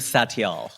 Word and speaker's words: Satyal: we so we got it all right Rajiv saal okay there you go great first of all